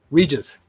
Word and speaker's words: Regis: Regigigas I don't know Regis like Regis Philbin yes Immortal Regis volume one